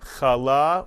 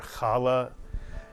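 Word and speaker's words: challah: holidays but either way Kal or kala as many people say it kala is delicious Alex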